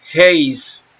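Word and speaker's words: εἷς: Se pronuncia Heis y significa numeral o primario, uno o una.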